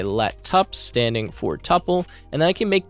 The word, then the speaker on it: tuple: I believe it's called tuple, not tuple. Some people, I think, say like tuple or some weird pronunciation for it, but it's called tuple, spelled like this.